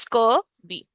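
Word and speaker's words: scurvy: बच्चे बहुत गलत प्रोनाउंसिएशंस करते हैं स्कर्वी की, ठीक है? कुछ ना कुछ बोलते हैं, एक गोइटर और स्कर्वी, इनकी pronunciations most of the children they do it wrong, so इट्स स्कर्वी.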